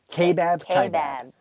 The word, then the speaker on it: Kaibab: stop in uh uh Kaibab I always forget how to say it's a k-bab so there's this highway